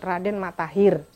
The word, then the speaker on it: Raden Mattaher: i e r Tahir tapi dalam pelafalan dalam masyarakat setempat E penyebutannya menjadi Raden matahir seperti kalau menyebut ee menyebut akhir menjadi akhir terakhir menjadi terakhir seperti itu e mengenal itu